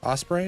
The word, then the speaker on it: osprey: Osprey. Osprey is how you say that.